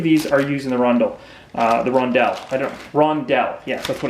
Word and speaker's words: rondel: and I believe these are used in the rondel. Rondel. Yeah, that's what it's pronounced.